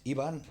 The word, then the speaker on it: Ivan: And that is because you are Mexican. So in Mexico, normal or Spain or whatever in Spanish, the correct name is Ivan.